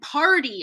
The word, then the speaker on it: party: So hardly and party are going to sound the same, right? So party has a T in the spelling, but not in the pronunciation because we flap the T after an R.